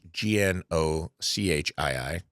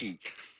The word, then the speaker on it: gnocchi: gnocchi. Yes, double CH in Italian sound like the letter K, so just replace those letters with a K, and it'll make a lot more sense.